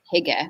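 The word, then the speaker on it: hygge: of the Norwegian Scandinavian tradition of Higa which I'm also probably mispronouncing right Margaret oh hi yeah yeah is it did I do it right is that the right uh H H yeah if you say it like this did I get it right sounds perfect to me right thank you well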